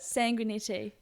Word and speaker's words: Sanguinetti: Sanguinetti.